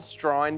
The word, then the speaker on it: Strine: country Australia absolutely correct it's called Strine because that's how Australians pronounce the word Australian right what nationality you